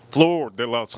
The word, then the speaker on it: Flor de las: Flo de Las floor de las. I got to say it like that because, well, it's a Spanish kind of a name.